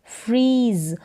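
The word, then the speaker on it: freeze: यहाँ पर एफ और आर का उच्चारण साथ में है, फ्र, ई, जेड को हम पढ़ेंगे ज, फ्रीज। और ई को हमने क्यों नहीं पढ़ा, क्योंकि लास्ट में जब आपको ई नज़र आएगा तो उसका उच्चारण नहीं होगा, ये साइलेंट रहेगा लास्ट वाला ई, फ्रीज।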